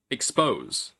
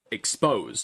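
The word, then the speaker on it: exposé: on that syllable for expose? Well, no, no. There's there's a difference between the verb expose to expose something to expose someone versus an expose like a with a little a little flick on the end.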